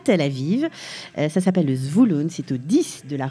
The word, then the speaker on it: Zvulun: C'est Zvouloun, ça s'appelle la rue Zvouloun. Il ne faut pas aller chercher plus loin. Zvouloun. En fait, on peut commencer à chercher plus loin. C'est Zvulun que ça s'écrit. Voilà, ben voilà.